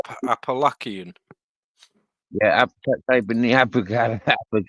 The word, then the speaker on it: Appalachian: 2000 people attempt to walk the opalak and Trail every year yeah Andy say it right Appalachian yeah typ in the